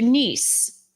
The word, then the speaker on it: Nice: I'm not sure exactly how it happened, but they were planning to go to France in particular to Nice. Um, Nice is spelled N I C E.